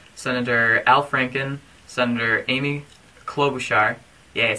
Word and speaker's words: Klobuchar: This video is also addressing Representative Keith Ellison, Senator Al Franken, Senator Amy Klobuchar, yeah, I said it right, and also House Committee Chairman of Agriculture, Representative Frank D.